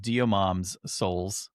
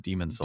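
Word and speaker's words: Demon's Souls: The way you spelled this, I'm just going to say it, Diomom's Souls instead of Demon Souls.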